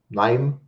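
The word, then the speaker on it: KNIME: which is really good I also use uh name which is spelled k n i m e for but this is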